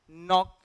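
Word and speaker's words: knock: होते हैं और उसके बाद एन आ जाता है तो हम उस के और जी को नहीं पढ़ते उदाहरण के लिए नी नॉक एंड no knee नॉक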